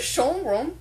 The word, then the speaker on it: Schönbrunn: Schönbrunn Palace.